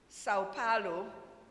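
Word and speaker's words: São Paulo: In this part of the globe, we say Sao Paulo, but if you want to sound like them in Brazil, you say Supolio, something like that, right?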